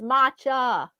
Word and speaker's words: matcha: that too Macho Macho but this is matcha ah matcha and it's with a t m a t let's see how this is spelled it's m a t c h a whereas Macho like meaning